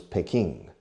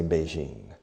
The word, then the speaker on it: Beijing: Western world, in el mundo occidental, the old pronunciation was Peking. Nowadays, hoy en día, nowadays, most people, por cierto, es nowadays. Hay una A en medio, pero solemos saltarlo. Nowadays, most people say Beijing.